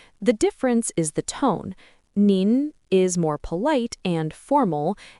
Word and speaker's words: 你: Now, if you add xin under ni, you get nin. Pay attention to the pronunciation. They're similar, but not the same. One is ni, and the other is nin.